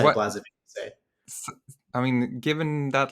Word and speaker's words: Blazevic: I normally say Blazevic so I mean given that last name of yours it sounds like you have some European heritage right?